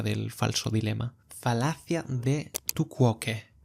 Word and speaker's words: tu quoque: Falacia de tu quoque. Se pronuncia literalmente así, lo he tenido que buscar. Tu quoque.